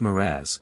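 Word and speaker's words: mirage: age and marriage m i a g is pronounced moraz said valency shortly picking up her tea and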